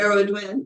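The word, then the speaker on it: Cerridwen: the flame and Keeper of the Sacred Heart shiridwin do I pronounce that right here I would win okay she from the Welsh tradition is the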